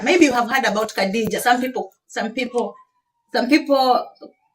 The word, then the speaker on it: Khadija: Maybe you have heard about Khadija. Some people pronounce it as Hadija, the wife of the Prophet.